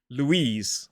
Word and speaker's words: Louise: So it is L, U, E, Z, Louise. It is not Lois or Louise. It has got that Z sound at the end.